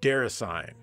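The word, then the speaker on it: Déraciné: This one is called Derasane. Wait, that can't be right. It's gotta be pronounced Derasane.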